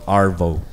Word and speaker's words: arvo: arvo what AO avocado we pronounced it AO but it's spelled arvo arvo I'm going to have